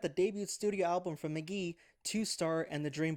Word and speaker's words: Mk.Gee: an album on Spotify and apple music um pronounced McGee was his I guess first uh full release